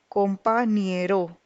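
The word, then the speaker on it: compañero: over here is this till tilted accent the pronunciation becomes companero compa niero so there's another term that is used for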